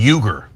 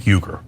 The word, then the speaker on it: Uygur: Cenk, this is pronounced like a J, Cenk, and then Uygur, Cenk Uygur.